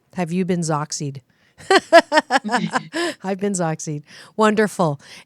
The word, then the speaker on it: XOXY: you can ask your partner um let me pronounce it Zack seed but it is X 0 X Y but if you wanted to use it as a verb you can say Zack seed um and then that way you know boy